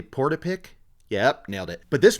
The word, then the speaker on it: Portapique: But this sends Lisa back to, I wrote it out phonetically, Portapique.